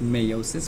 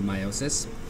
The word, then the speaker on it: meiosis: that's not about meiosis meiosis sounds like mitosis it's a lot like mitosis but it also has a lot of differences there's a lot of differences between the two sometimes it's pronounced Mayo sis but I like to